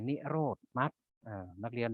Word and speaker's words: นิโรธ: สาม ก็ คือ นิโรธ อัน นี้ อ่าน ว่า นิโรธ ก็ คือ ความ ดับ